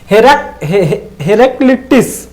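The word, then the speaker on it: Heraclitus: देखिए, थोड़ा प्रोनाउंसिएशन करने में दिक्कत हो रही है, आप लोग भी थोड़ा ध्यान से प्रोनाउंसिएशन करें। हेराक्लिटिस है, हेराक्लिटस। क्या है? हेराक्लिटस। बार बार आप भी पढ़ेंगे तभी आएगा ये, क्योंकि थोड़ा टफ है ये।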